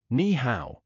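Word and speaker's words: 你好: Ola, bourju, nihow, kichua.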